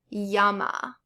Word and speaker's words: llama: The double L is generally pronounced like the English Y.